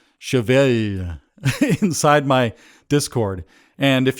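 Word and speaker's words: cheval: The song title is French for horse, and it's pronounced kind of like Chevelle, with a sustained L. I can't quite do it. Chevelle.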